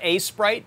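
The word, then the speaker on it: Aseprite: me but it's the it's called a sprite but it's spelled a e s p r i t e so go go look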